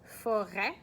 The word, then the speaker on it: forêt: The t would be like the silent letter at this point. But so la forêt, that's a noun, a feminine noun, and it's a forest.